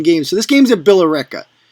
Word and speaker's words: Billerica: So this game's at Billerica. And it's Billerica, not Billerica. It's Billerica. Two Billerica. There's like 5 syllables in there. Come on, stop it.